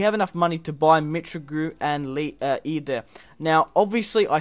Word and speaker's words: Mitroglou: Mitroglou.